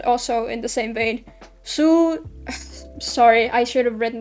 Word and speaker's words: Hsu: How do you pronounce that? Su.